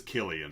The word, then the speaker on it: Cillian: crane yeah it is it is killian it's a hard c it's a yeah like a hard k i just looked it